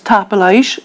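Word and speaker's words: Tapadh leibh: That's for the informal, and tapalage if you're speaking to more than one person, and also the formal if you're speaking to somebody older than yourself. Tapalaish, thank you. Tapalage.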